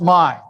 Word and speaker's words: MI: the state abbreviation and it's pronounced my we're very possessive in Michigan so you you create